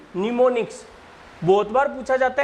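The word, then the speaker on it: mnemonics: को बोला जाता है निमोनिक्स। देखो एम से स्टार्ट हो रही है स्पेलिंग और एन से बोली जाएगी, निमोनिक्स।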